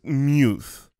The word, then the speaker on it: Muth: It's pronounced Muth. Muth, but it's spelled M-U-T-H, which you would read Muth.